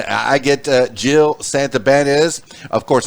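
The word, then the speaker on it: Santibañez: i get uh jill santa ben is of course i like to pronounce it the spanish way since i'm half cuban santa banyas and then rachel ruby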